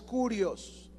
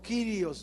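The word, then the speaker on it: κύριος: Si se fijan, dice a nuestro Señor Jesucristo también la palabra soberano, que es Kurios, con K, Kurios. Algunos le pronuncian como Kyrios, ¿verdad? Pero se deletrea Kurios, con K, Kurios, ¿ya?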